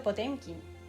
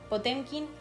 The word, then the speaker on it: Potemkin: Mi querido Potemkin, que ya lo pronuncia Potemkin.